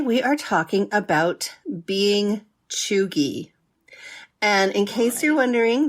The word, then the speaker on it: cheugy: roundabout and today we are talking about being chugi and in case you're wondering that's spelled c h e u g y chugi